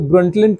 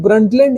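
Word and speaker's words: Brundtland: तो ये था हमारा जो ब्रंटलैंड कमीशन इसको ब्रंटलैंड या ब्रूटलैंड कमीशन भी कहते हैं। प्रोनाउंसिएशन अलग-अलग हो सकता है।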